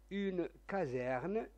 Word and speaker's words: caserne: en cas في حالة une caserne هنا le s entre deux voyelles se prononce z ثكنة les victimes الضحايا